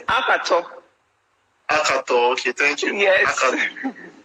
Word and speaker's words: Akhator: How is it pronounced? It's Akhator.